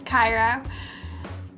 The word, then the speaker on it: Cairo: I actually learned how to properly pronounce the lip color. It's Cairo. And then really quickly off